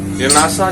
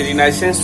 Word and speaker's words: Renaissance: रेनासा जिसका अर्थ होता है पुनर्जागरण। अमेरिकन इंग्लिश में इसे रिनाइसेंस भी कहा जाता है, क्योंकि हम लोग ब्रिटिश इंग्लिश फॉलो करते हैं, तो इसका उच्चारण होता है रेनासा।